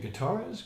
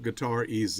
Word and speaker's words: Gutierrez: Well, years ago, when I was born, it was Gutierrez. But as a music teacher, back in the 80s, I was having people write me checks all the time. And they always were asking me, how do you spell it? How do you spell it? And one day I just said, just put guitar EZ.